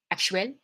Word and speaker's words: actuel: I want you to pay attention to how the biggest difference is in syllable stress. English always has one obvious place for syllable stress in multisyllabic words, and French is more like even, okay?